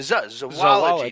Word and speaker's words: zoology: I'd like to add that the standard American pronunciation does often allow for either a long O like zo, but also for a schwa sound like zuh. Mm-hmm. Which actually begins to naturally sound like zoo when you add the wology to zoology, just naturally the zoology.